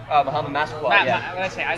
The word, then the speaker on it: Massaquoi: James Harrison had that crushing hit on Muhammad Isaaclaw. How do you pronounce his name? Muhammad Massaquoi, yeah.